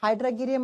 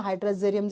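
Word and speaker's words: Hydrargyrum: जैसे हाइड्रगेरियम किसको बोलते हैं? हाइड्रगेरियम या हाइड्राजेरियम जैसे भी आप इसको प्रोनाउंस करो।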